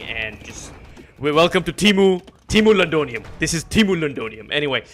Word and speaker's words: Londinium: It's pronounced Londinium.